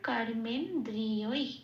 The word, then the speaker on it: কর্মেন্দ্রিয়: গেল তাহলে প্রথম পুরো শব্দটা কি পেলাম সংস্কৃত উচ্চারণ কর্মেন্দ্রিয় এটা আচ্ছা আসি পরের শব্দে কর্মযোগ এটুকুই তো